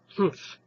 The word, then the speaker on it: humph: Humph, said the Sand Fairy. If you read this story aloud, please pronounce humph exactly the way it's spelled, for that is how he said it.